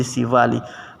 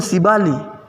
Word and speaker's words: sivali: menjadi Siva sivali ya pengucapannya kemudian akan berubah menjadi sivali bukan siali ya Maka sangat akan